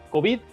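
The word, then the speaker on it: COVID: pronunciación ya para despedirnos que se pronuncia por lo general con acentuación aguda cobit siguiendo el patrón mayoritario en español de las palabras terminadas en d soy oscar wulfrano aguilar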